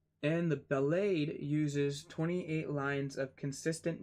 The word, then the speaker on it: ballade: Ballad is spelled B-A-L-L-A-D-E.